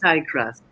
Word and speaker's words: Igraasp: It's Igraasp. That's the right pronunciation.